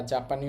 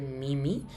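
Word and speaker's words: 耳: করে এটা মনে রাখবো এই কাঞ্জিটার কুনিয়মি বা জাপানি উচ্চারণ হবে মিমি আর অনিয়মি বা চীনা উচ্চারণ হবে জি।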